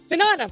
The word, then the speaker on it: Finana: Finana.